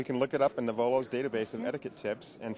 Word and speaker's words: Knovolo: I'm down here at Mobile Internet World, and I am joined by Greg Bouwens with Knovolo. The K is silent. Knovolo. Knovolo, the K is silent.